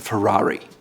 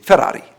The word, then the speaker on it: Ferrari: Now this one seems easy, and most people in the US say it's a Ferrari. They use the American R. In Italy, they say Ferrari, Ferrari, Ferrari. They use that R in the front rolled with their tongue.